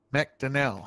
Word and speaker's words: McDonnell: go any further, Jordan, how do you pronounce your surname? McDonnell. McDonnell, okay. Sweet. So I was saying it right. I did get information from someone that it was McDonnell.